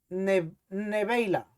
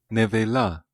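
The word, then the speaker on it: נְבֵלָה: comeréis, pero esta palabra en hebreo dice neveila, Nevela, nevela. Lo estaba pronunciando mal.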